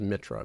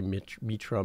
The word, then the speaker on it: Mitra: So my last name is Mitra, but people say Mitra, Mitra. I've heard Mitchell.